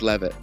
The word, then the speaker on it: Leavitt: Is it Levitt or Yep, you got it right Levitt? the first time. Yeah, I Okay. know it's confusing because that A always trips people out, but it's pronounced Levitt.